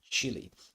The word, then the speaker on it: Cheelee: And of course the ticker symbol of Cheelee is CHEEL, just like chill, as the song say, wait a bit, or relax, rest a bit. So it's pronounced chill, and I think, in my own opinion, the pronunciation is Cheelee.